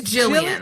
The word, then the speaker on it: Gillian: but wait is it is it Gillian or Jillian Gillian Anderson Jillian Jillian it's jilan it's a hard it's Jillian it's Jillian andersonan ja Jacobs Jacobs